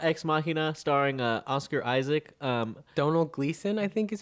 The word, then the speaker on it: Domhnall: Donald Gleason, I think is how you Yeah. say it. Donald. Donald. It's spelled very different from how it sounds, if I remember I think correctly.